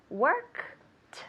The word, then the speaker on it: worked: year at home worked you have to force yourself to say work worked with a t worked tell me worked